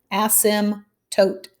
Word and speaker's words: asymptote: says to identify the asymptote that's how you say it no i'm not cussing at you it's kind of like the p is silent asim tote graph each equation and